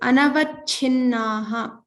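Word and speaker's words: अनवच्छिन्नाः: So the first four words were easy, like common words we use, but anavachinnaha. So cha, make sure to pronounce the mahaprana here, and this is na, so double na.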